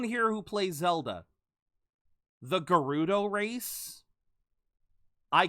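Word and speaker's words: Gerudo: his name is gild or in Japanese it's gudo gudo g e r u d o so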